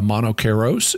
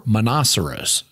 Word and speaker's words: Monoceros: Here, Pope Gregory mentions that the unicorn is called a Monocheros in Greek, or Monoceros, to give it a more English pronunciation via Latin.